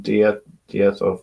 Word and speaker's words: diethyl: So diethyl, that's how you say it, ether, and she's using the DIET and ER as Dieter.